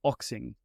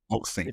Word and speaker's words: Oxing: So, my last name is Oxing. So, Oxing. Okay. If you think boxing without the B, that's exactly how you pronounce it.